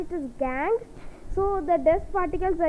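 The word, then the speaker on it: gangue: so let me write that spinning it the pronunciation is different from spinning that's why I need to g-a-n g-u-e gang so these gang is helps is not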